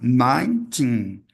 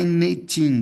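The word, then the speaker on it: nineteen: Ninen, tá? O o número nove é nin é nine. E aqui é a tendência natural das pessoas falar nitin, dando três sílabas. Ninten, não.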